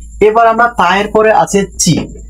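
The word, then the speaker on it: ち: তায়ের পরে সাধারণত আমরা টি বলতাম, ত রসিকার তি বলা উচিত ছিল, কিন্তু এখানে তি হয় নাই, তাহলে বোঝা গেল তায়ের পরে আমরা তি বলবো না, তায়ের পরে বলবো আমরা চি।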